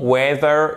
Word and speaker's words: whether: Que tu le veuilles ou non, whether you want it or not. Ok? Donc, qu'est-ce qui se passe? On ne prononce pas le H. Whether you want it or not.